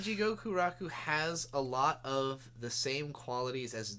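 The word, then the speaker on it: Elle: It'll be L, but like you know, E L L E, but pronounced like L.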